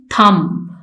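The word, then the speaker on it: thumb: first हम लिखेंगे थम इसमें बी मैंने मेंशन किया है लिखा है लेकिन इसमें बी साइलेंट है इसको हम प्रोनाउंस करते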